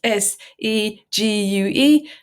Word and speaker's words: segue: something that reads differently to how it sounds it's spelled s e gu e and it's pronounced segue and the way to